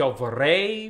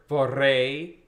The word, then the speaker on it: vorrei: We have lots of, this middle word, vorrei, right? We have two kind of syllables. First, that we want to trill those double R's, vorrei. And then we really do embrace the diphthong.